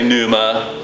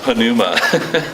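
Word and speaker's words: pneuma: p n e m a some people say Numa but actually in the Greek it's pronounced panuma P so sounds kind of funny to us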